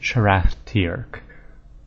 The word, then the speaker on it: Sharathtirk: name is Sharathtirk, and they pronounce it Sharathtirk. So more emphasis on the first syllable, Sharathtirk, but pretty similar, not so bad.